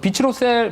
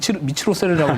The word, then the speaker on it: 비츠로셀: 우선은 제가 또 차트를 보는 걸 좋아하니까 비츠로셀 보시면 제가 이전에 한번 이걸 보면서 잘못 읽어가지고 미츠로셀이라고 읽었었는데 네.